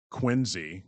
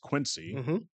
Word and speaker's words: Quincy: the Massachusetts area like Quinzy. It's not pronounced Quincy, Wooburn, and all of these other places that I couldn't pronounce.